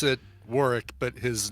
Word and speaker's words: Warwick: head I so you pronounce it yeah you pronounce it Warick but his name is it spelled war is